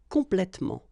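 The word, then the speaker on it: complètement: about the adverbs and the adverbs that will end with omo okay in most of the cases you don't pronounce this uh here okay and that's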